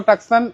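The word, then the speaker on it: Tucson: কাছে তিনটা আছে ওইটাও টাকসান এইটাও টাকসান টাকসান বলেন তুসন বলেন যে যেভাবে উচ্চারণ করে এটা 2017 মডেল টাকসানের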